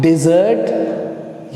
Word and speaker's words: dessert: तो I hope आप लोगों का कंफ्यूजन दूर हो गया होगा कि अब आपको पता होगा कि आप डिजर्ट ये वाला मील के बाद खा रहे हैं, या फिर आप